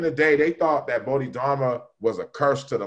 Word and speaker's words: Bodhidharma: bro i listen to that album then pronounce pronounce the title because i can't every time oh bodhi dharma bodhidharma is one of the buddhas that came